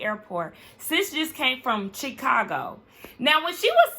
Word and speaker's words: Chicago: are you saying that you're saying chick like chicken it's Chicago Chicago even in her professional she